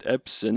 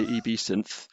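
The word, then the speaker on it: EbSynth: heard gavin pronounce it i've always called it absynth and then i i just recently watched a flurry of youtube videos and i seem to be the only person in the world who pronounces it absinthe so okay well i'm going to try and bend my brain to say eb synth so yeah gav in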